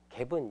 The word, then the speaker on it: GAAP: 얘도 갭이 뭐냐면 Generally Accepted Accounting Principle이라고 그래가지고 이런 말 되게 자주 보게 될 거예요. 일반적으로 인정된 회계 원칙 얘를 GAAP라고 쓰고 그냥 실무에서 그냥 갭이라고 읽어요.